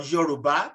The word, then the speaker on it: Yoruba: local western nigerian language called yoruba or yoruba to pronounce it right but all i can